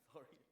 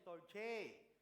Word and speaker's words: storge: Story. Okay, the correct pronunciation is storge. Medyo storge. Okay, storge.